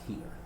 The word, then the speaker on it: hir: It's HIR, but it's pronounced here.